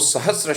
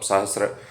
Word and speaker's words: सहस्र: अक्सर आप सुने होंगे कई लोग बोलते हैं सहस्त्र सहस्त्र नाम पर मेरे खल से ठीक उच्चारण नहीं है होता है हजार मतलब सहस्र तो मतलब सहस्र मतलब हजार एकज नाम जो है तो सहस्त्र नाम है श्र श्र स और र आधा स है फिर र है स के बाद त्र नहीं है तो सहस्त्र नाम है